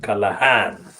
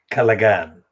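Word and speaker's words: Callaghan: called james calagan well i don't use the pronunciation callahan because i use the pronunciation as i find the spelling which is kalagan in the in october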